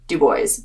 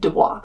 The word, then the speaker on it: Dubois: far in Du Bois, and yes, it is pronounced Du Bois. Don't make the mistake that I did and call it Du Bois. I spent $504.04 in that town. If you don't know, Du Bois is a gateway town to Yellowstone, so it's